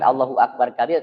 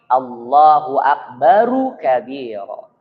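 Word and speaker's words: الله أكبر كبيرا: betulkan dalam teks hadisnya bukan Allahu akbar Kabir tapi Allahu akbaru kabiro karena kalau di dalam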